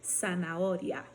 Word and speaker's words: zanahoria: Eu tinha comentado com vocês que não existe som de Z, mas a letra Z, ela existe sim, tá? E aí vocês vão ver várias palavras com a letra Z e quando forem pronunciar, simplesmente vocês vão usar o som de S. Por exemplo, surdo, sapato, zanahoria, coração, ok?